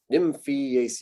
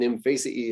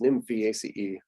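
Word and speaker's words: Nymphaeaceae: name you go nymphaea sort of drop the a and then put the a c e on there nymphy ace is how we say that i just got a little bit extra syllable practice using that so it's not an imphase e it's nymph ace and there it is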